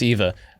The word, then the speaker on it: Eva: Middle Gear Solid 3 yeah yeah so it's Eva what's funny about that is uh how I went a snake right my girlfriend decided that she was going to go as Eva um and nobody knew who she was so